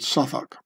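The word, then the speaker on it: Southwark: to uh south or South walk as Americans would pronounce it and I would too maybe I don't know why they the London londoners pronounce it suak so here was um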